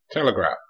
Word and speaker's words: telegraph: Telegraph. T, L, E, G, A, PH sounds like F.